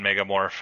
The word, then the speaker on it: megamorph: we ever live down megamorph I'll be pretty happy megamorph say it properly it's Mega morph megamorph